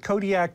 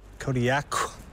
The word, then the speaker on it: Kodiaq: In the Aleutic language, the Qs are more come from, like, your throat than a normal K does. How would we pronounce it, then? Kodiaq.